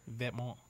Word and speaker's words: Vetements: Vetements. Oh, screw them. It's America. It's pronounced Gordon.